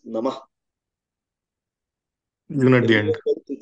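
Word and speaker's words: नमः: In any sentence or any word that ends in a sentence which ends in a visarga, we tend to pronounce the whole thing like namaha instead of namah.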